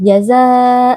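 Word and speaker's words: جزاء: Jaza mengandung mad wajib muttasil karena mad tabi'i bertemu dengan hamzah dalam satu kata. Jazaa' adalah satu kata, jadi mad wajib muttasil berlaku di sini, yang kita baca selama empat atau lima harakat. Idgham bi ghunnah karena tanwin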